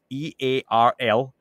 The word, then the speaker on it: Earl: with the Scottish accent, it's really hard to pronounce the name Earl. So if anyone, it's E-A-R-L. So anyone who wonders, what is saying this guy's name is? It's Earl. That's it.